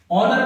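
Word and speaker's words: honour: ए N correct answer ओनर में ए silent है है ना ऐसे वर्ड्स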